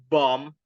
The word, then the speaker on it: bomb: right for example like bomb it is silent B in the in the end of the word and life it is